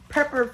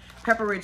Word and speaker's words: Pepperidge: Pepperidge Farm. I keep saying it wrong. Pepperidge Farm cookies.